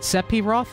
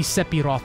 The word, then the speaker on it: Sephiroth: Isn't it Sephiroth, not Seph, like with an F? It's a PH sound because it's supposed to be an F sound.